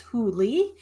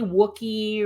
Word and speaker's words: Whooley: My last name is pronounced WHO-lee, and a lot of people want to call me Wookie or Wooly or all sorts of things, but that's not how it's pronounced. The "W" is silent.